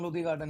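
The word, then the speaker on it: Lodhi: ही Buddha गार्डन, लोधी गार्डन या लोधी गार्डन है Oh, place. that's how it's pronounced.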